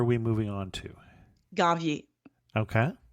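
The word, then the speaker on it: Ganvié: Ganvier. Okay. Ganvier is spelled G-A-N like Nancy, V-I-E like the Beyonce E with the accent at the end.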